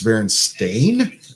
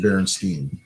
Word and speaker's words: Berenstain: Apparently, it's Berenstain as it's spelled. but I remember it being Berenstein.